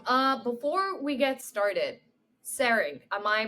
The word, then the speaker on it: Tsering: awesome uh before we get started saring am I pronouncing your name right yes that's correct perfect